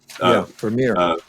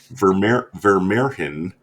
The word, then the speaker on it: Vermeer: Vermeer. Vermeerhin. It's yeah, but he mispronounces it Vermeer just to get a reaction out of Blunt.